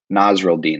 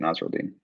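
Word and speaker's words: Nasirildeen: Nasruddin, that's how you say it, Nasruddin.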